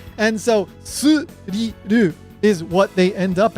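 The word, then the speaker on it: スリル: is used in Japanese, and when they pronounce it in Japanese, they pronounce it as suriru. This is because there's no TH sound in Japanese, and so they have to find the closest approximation to a TH sound, which is an S sound, and so suriru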